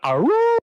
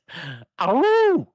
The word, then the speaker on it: Aru: Let's Let's move on to Aru. Aru. That's how it's spelled.